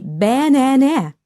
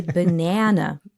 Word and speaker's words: banana: but you don't say banana or banana right you say banana so the really true a is only in the middle of the word banana the rest A's in